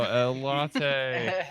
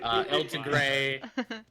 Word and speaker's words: El Tigre: How did I miss say El Tigre last time? You mispronounced it a few times. It was great. I think El Latte was at least one of them. Oh, El Latte. El Latte, El Tigre.